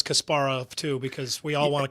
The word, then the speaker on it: Kasparov: that first syllable or putting the emphasis on the first syllable and we learned that it was wrong.